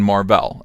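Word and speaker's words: Mar-Vell: would be playing Captain Marvel and I'm gonna call him marvel just to differentiate him from Captain Marvel brie Larson Captain Marvel which is spelled ma R - ve ll there it is on the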